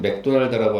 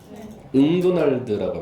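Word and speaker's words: McDonald's: 그래서 맥도날드를 써보시면 MC 이렇게 돼 있지 않아요? 응도날드라고 합니다. 은도날드라고. 네, 발음이 안 나요. 예. 네, 응도날드예요.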